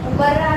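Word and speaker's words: مبرّا: مبرہ صحیح تلفظ مبرہ نہیں ہے، مبرہ ہے.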